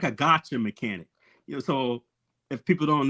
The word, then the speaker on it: gacha: item you want, and that's why they call it gotcha. But it's like spelled like GACHA.